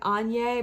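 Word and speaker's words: Áine: i work with but i call her ayn and i know that's not how you pronounce it it's a i n e and e i read somewhere that was like any but i just i'm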